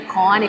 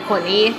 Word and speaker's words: Koni: Vocês já viram que durante o vídeo eu já falei Cone, Coni. Fica aí entre os dois, pronuncio das duas formas.